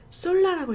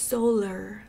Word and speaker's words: solar: 솔라라고 했어요 이제까지. But it's solar.